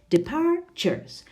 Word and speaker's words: departures: the third syllable well it's all the second not departures departures departures the second syllable what about number two